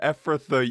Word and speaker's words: Ephrathah: It's pronounced Bethlehem Ephrathah, you bozo.